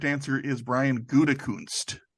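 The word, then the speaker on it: Gutekunst: answer is Brian goodekunst he pronounces it guten kund's who's he I don't think he does because there's no end there and his father John goodacunst that's how he pronounced it okay it was the Gophers head coach there's not an n in there anyway both teams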